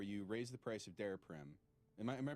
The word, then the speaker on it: Daraprim: I want to hear about the night where the news first came out, where you raised the price of Daraprim. Am I pronouncing that right?